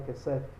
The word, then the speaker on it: kesef: Por exemplo, aí, ó, kesef. Essa palavra kesef. A letra final é um P. Sem um ponto. Então, som de F. Daí, kesef. A pronúncia é igual, não muda.